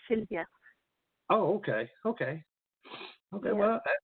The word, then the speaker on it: Sylwia: I mean so it's Sylvia it's pronounced like regular like Sylvia oh okay okay okay